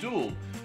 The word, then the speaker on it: jewel: One of the things I've learned this week is that the word jewel and the English pronunciation of jewel just doesn't fly in America. In America, it's duel, and it took me